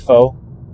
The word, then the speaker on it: faux: I thought it's funny that the word f ax I know it's pronounced faux like faux fur.